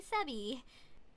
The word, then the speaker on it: Sebby: of Sarah and Abigail taking the first syllable sap from Sarah then the second syllable be from Abigail ah but of course the B sounds like B not bit all right Sebby it